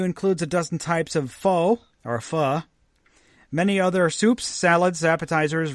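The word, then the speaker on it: phở: popular Vietnamese soup, pronounced pho, so it's pronounced pho, so it is fucking good. When put before king, sounds like a word not spoken in polite company.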